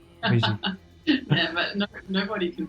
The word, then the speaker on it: Brigitte: I love the French pronunciation. Brigitte.